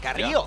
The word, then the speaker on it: Carrillo: I gotta say, I appreciate the pronunciation. Carrillo. Yeah. Hey, Carrillo. A rolled that R pretty well.